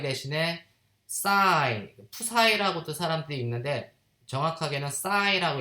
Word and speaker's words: psi: y를 파동함수가 고전적인 파동함수 y 대신에 psi, psi라고도 사람들이 읽는데 정확하게는 psi라고 읽으면 돼. psi인데 그냥 psi. p는 묵음이라서 그냥 psi라고 읽을게.